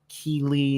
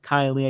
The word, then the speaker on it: Kiely: like I would accidentally at times say Keely instead of Kylie I did it like